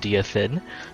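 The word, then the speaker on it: Direfin: with jason playing silestra dear finn it's apparently pronounced dfin and me playing count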